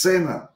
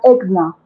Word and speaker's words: ESCNNA: exactamente esa sigla es cena exactamente es Qué bueno realmente se pronuncia exna exna exna muy bien